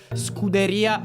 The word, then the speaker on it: Scuderia: Your pronunciation is it's strongly American. It's more Scooteria Ferrari.